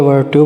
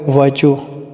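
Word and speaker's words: virtue: की वजह से ना वो वर्चू बोलते हैं या वर्टू बोलते हैं ऐसा नहीं होता यह वाला वर्ड जो है ना वो है वर्चू वर्चू और जो है ना वो साइलेंट रह जाएगा इसमें साकन रह जाएगा तो सेकंड इसमें विजडम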